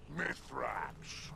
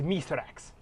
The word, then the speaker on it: Mithrax: man letting the Guardians call him mythrax that's bethrax but yes some of them struggle to pronounce his name it's mithrax M I'm right here impressive